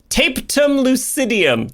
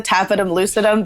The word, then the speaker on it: tapetum lucidum: I've heard so many people pronounce it so many different ways. I say the tapetum lucidum, but maybe that's tapum lucidum. That sounds way better.